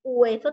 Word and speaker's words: hueso: Hueso, ahí tenemos hueso, también se pronuncia U, no gu. U sería con la G, pero tenemos que decir hueso, ¿ah?